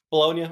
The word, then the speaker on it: Bologna: don't want to sound dumb here, it's just Bologna, right? Bologna.